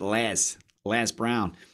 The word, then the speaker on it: Les Brown: And I gotta pronounce it Les Brown, so that people just say, "Who's Liz?"